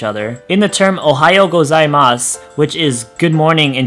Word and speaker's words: gozaimasu: And even though it is at the end, we don't pronounce it gozaimasu. We actually pronounce it gozaimasu.